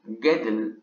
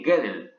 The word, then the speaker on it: Gödel: Un paper del matemático Kurt Gödel, si mal no me equivoco se pronuncia así, amenazaba todo lo que